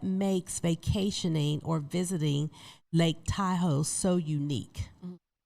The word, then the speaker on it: Tahoe: Taho is actually a derivative of a Wu native word um which is dol. So that would be the original pronunciation of the name and I just I